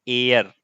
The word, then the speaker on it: heir: ये गलत हो गया तुम लोगों का, इसका प्रोनाउंसिएशन होता है एयर। यहां यच जो है वो साइलेंट होता है, या याद रखिए इसका मतलब क्या होता है, उत्तराधिकारी।